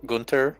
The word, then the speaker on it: Gunther: It is basically the h is silent in German most of the time if it's in the middle of something.